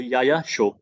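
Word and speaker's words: Yaya Tso: तो याया शो, ठीक है, टी यहाँ पे साइलेंट होता है।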